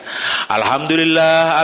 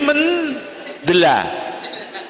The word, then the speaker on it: Alhamdulillah: berbunyi Allahu Akbar lagi alhamdulillah alhamdulillah alhamdulillah nanti bacanya sudah enggak Alhamdulillah lagiam amduldill mendela mendela mendela mendela Alhamdulillah bisa menjadi menela Makane jenengan hati-hati ngoten